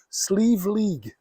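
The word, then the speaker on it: Sliabh Liag: you'll be like, "How should how should I pronounce this?" It's quite easy once you've heard it. It's Sleeve League.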